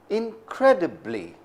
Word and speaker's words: incredibly: strong man in it incredibly how many syllables does that have four syllables and the second one is stressed in cre de blis